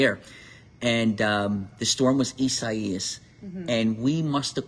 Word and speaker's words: Isaias: Remember when we got Isaias? Isaias. So much for easy to pronounce. You know what? I got that one down because I kept thinking in my head quesadillas.